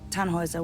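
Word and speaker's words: Tannhäuser: why what's your name tanhauser we'd pronounce it tan hoiser with an umlaut german roots yes my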